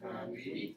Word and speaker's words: vingt-huit: Vingt-huit. Remember, we'll pronounce the T. Why will we pronounce the T here? Because it's a vowel. H is technically a vowel sound. Remember, H's are silent in French, remember?